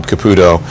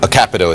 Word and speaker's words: Capito: Lisa marowski Shelly Moore U Caputo capito and uh a capo is how she pronounces it and Susan Collins